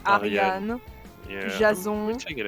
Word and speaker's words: Ariadne: I'm pronouncing it at in the French way, like Ariane. Of course you do. Oh yeah, obviously. Duh. I have never heard the name of Aryan like said, because I haven't listened to like the story of Perseus or something like that, you know? I haven't heard it in in English they say it like Ariadne. Damn.